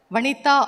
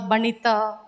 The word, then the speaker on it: Vanita: I'm very happy because only in Tamil Nadu my name is pronounced very well Vanita or every time I have a difficulty in my name sometimes in north they call banita sometimes Even they changed